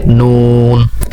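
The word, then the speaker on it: نون: এর উচ্চারণ হবে কিভাবে, নুন, 4 আলিফ টান হবে।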